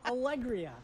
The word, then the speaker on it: Alegría: believe is an allergy medication uh it's correctly pronounced allegria i'll agree i'll agree i'll agree i'll agree